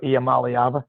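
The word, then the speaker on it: Iamaleava: But I think what you'll do, you know, old last year, Arkansas had the brother Madden Amalyava of Nico Amalyava. I pronounced it right.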